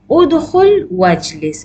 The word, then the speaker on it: ادخل واجلس: So there are three ways how you will pronounce the hamzatul wasl in the command word. First, when there is a name and you need to read together, ya hamiduktu. Okay. Second is udkhul wajlis.